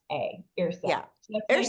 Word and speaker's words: Yrsa: So first name is spelled Yrsa, Yrsa. Yeah. So that's nice Ursa.